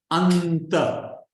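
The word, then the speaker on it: अन्त: Anta. Look at how we pronounce the N. Because it's joined to a ta, anta. It must be dental.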